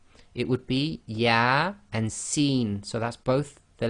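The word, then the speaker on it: Yā Sīn: with these single letters they effectively are pronounced as the name of the alphabet not the sound so here you cannot say yes sir it would be yeah and seen so that's both the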